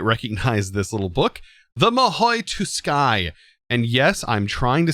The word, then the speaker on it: Mahou Tsukai: So I'm going with Mahou Tsukai. The T is not silent. It does have a tis sound to it. And that's how I'm going to pronounce it.